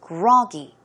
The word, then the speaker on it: groggy: word groggy right so the stress goes on the first syllable it is groggy groggy synonyms are sluggish